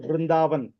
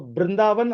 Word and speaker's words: Vrindavan: While telling also Brindavan or Vrindavan, there my question I'm confusing actually. Both are same, no problem.